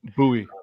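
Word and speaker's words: Buies: And Zach, I know I just mispronounced that. I'm trying to remember how I say it. Bowie.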